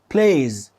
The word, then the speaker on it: played: دي فكنت بقول بلاز ولكن النطق الصح هو بلاز بلايز هي بلاز تاني بلاز ما تقولش بلاي ز not تو سب ا سبل يعني مش مقطعين هي مقطع واحد بلايز وكذلك في الماضي